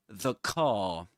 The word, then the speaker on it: car: He doesn't pronounce the letter or the sound r at the end, does he? Because in his accent, in Southern Standard British English, we don't pronounce the letter r or the sound r when right before silence.